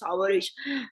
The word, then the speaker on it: Khawarij: It's Khawarij. By the name itself, it means they have come out of the fold of Islam. Coming out. Khawarij, Khuruj is to come out.